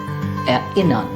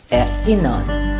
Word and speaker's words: erinnern: This particular word should be pronounced as erinnern. La la la. A common mistake is that people say erinnern, and that is not the case.